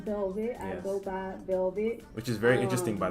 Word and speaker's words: VLVT: go by Velvet.